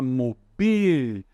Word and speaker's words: mobil: Cuidado para a gente não colocar a sílaba tônica aqui no O, tá? A gente não vai falar mobil, a gente fala mobil. É como se aqui tivesse um acento, tá?